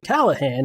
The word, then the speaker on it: Callahan: And we know that Callahan is pronounced Callahan.